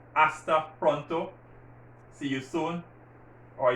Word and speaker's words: hasta: see you soon hasta pronto again the age is silent hasta pronto see you soon or you want to